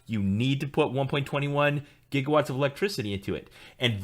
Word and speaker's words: gigawatt: to have 1.21 gigawatts which they always pronounce gigawatts but there's no such thing as a gigawatt it's a gigawatt you have to channel